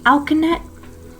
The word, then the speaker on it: alkanet: I'm looking for things like alkanet or dittany, flus, fumilar. Whoa. Can you start from the first one? Whoa. Sure, alkanet. Didn't they? Alka, spelled like alkaline, Yeah. but net at the end.